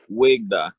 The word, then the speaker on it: WeGDaw: da wig da how do you say it wig da wig da all right yeah so significant significance